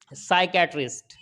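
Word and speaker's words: psychiatrist: है यहां पर भी साइकैटरिस्ट साइकैटरिस्ट के अंदर भी क्या है एस से पहले पी आया है तो पी यहां पर क्या होगा साइलेंट हो जाएगा पढ़ा नहीं जाएगा आगे देख लेते हैं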